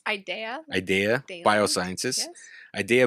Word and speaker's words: Ideaya: So help me pronounce this. Ideaya? It's Ideaya.